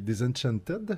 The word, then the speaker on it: Disenchanted: Quelque chose que j'attends gros, qui est Disenchanted. Je le prononce correct? Oui. Faut dire le TED à la fin ou c'est Disenchant? Non, il faut que tu mettes le T à la fin.